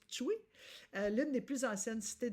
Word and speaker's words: Ptuj: En après-midi, on va se rendre à Tchoui. Ça s'écrit T-P PTUJ, mais on prononce Pčuj, l'une des plus anciennes cités de Slovénie, qui